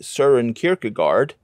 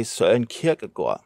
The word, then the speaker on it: Søren Kierkegaard: When talking Danish philosophers, Americans might say Søren Kierkegaard, but Danes say Søren Kierkegaard.